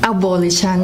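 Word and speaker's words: avolition: How do you pronounce it? Abolition.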